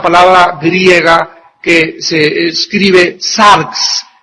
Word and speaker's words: sarx: La palabra carne es una palabra griega que se escribe sarx, S de Samuel A-R-X, sarx.